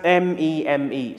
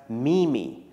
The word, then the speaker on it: meme: to pronouncing it because it's written as m-e-m-e so some people pronounce it as mimi now of course the